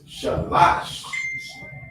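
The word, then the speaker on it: שלוש: the Bible days so sis how do you pronounce three in the Hebrew uh three is shalash right so with the three we already know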